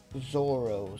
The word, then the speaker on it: Zoro: way it smelled but it's also it's actually pronounced Zorro so they were just avoiding any kind of